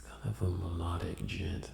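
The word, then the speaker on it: djent: gent metal band and gent is spelled d j e n t gent um it's kind of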